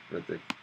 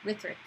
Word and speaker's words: Hrithik: Hrithik. Hrithik. Just like kind of silent. Hrithik.